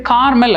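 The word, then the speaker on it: caramel: Okay, இப்போ நம்ம பார்க்க போகிற வேர்டு வந்துட்டு ஒரு ரொம்ப ஸ்வீட்டான ஒரு word, it's called as கேரமல். இதை நிறைய பேர் கார்மல் அப்படின்னு நினச்சிக்கிறாங்க. இட்ஸ் நாட் கார்மல், இட்ஸ் கேரமல்.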